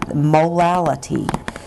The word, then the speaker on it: molality: with you today is molality. It sounds like I have a speech impediment when I say it, so I will spell it for you.